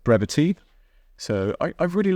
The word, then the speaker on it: Brevitē: the brevity logo on now it's brevity not brev I've been told to pronounce it brevity so I I really